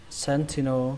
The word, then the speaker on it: sentinel: Trọng âm của nó rơi vào âm đầu tiên, âm sen. Sen, âm sen trong từ sen vào, sentinel. Âm thứ hai các bạn đọc là thì ở trong chữ dậy thì, và âm thứ ba là âm no, sentinel, sentinel.